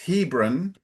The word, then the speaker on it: Hebron: And one difference is the emphasis is usually closer to the beginning. So instead of Hebron, it's Hebron, Hebron, and instead of Canaan, it's Canaan.